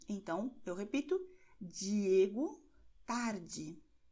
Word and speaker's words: tarde: é que você tem a combinação DI e DE com o som de D, ok? Então, você pronunciará Diego tarde, do mesmo jeito que você diz a letra J em jeans, ok? Nessa palavra estrangeira, o mesmo som.